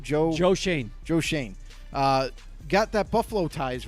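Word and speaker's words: Schoen: Joe Shane.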